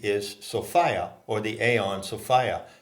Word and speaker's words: Sophia: Sophia or the Aeon Sofia not to be pronounced like the woman's name Sophia so identified the a